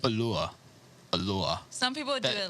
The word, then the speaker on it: Allure: How do they pronounce it in Mexico? Like allure, ajure. Like, Ajure. Yeah, because two L's make a Y sound.